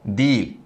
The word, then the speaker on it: değil: seslendirme telaffuz tarzı var o da değil değil demiyoruz diliyoruz mutlaka ğ içinde yumuşak